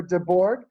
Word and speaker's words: DeBourgh: to pronounce it is de borg there's a bunch of weird uh letters in there but it's a it's a whole swedish french thing the reason that it's